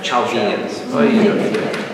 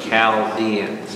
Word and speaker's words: Chaldeans: the Chaldeans everybody say Chaldeans I love when you try to say chalginians when you say that word to me and people are reading upstairs the Chaldeans all right it's with a k sound everybody say that with